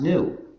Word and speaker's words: gnu: according to the dictionary the g is silent and it's pronounced new so anytime you want